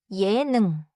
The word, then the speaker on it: 예능: 예능 has two syllables. 예능. Say it smoothly. 예능.